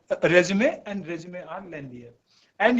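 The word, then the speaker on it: résumé: Resume, resume जिसको लोग पढ़ते हैं, it is actually pronounced as resume.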